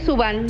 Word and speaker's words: Zuban: Es Subán, sin acento, así que se puede pronunciar de cualquiera de las dos formas.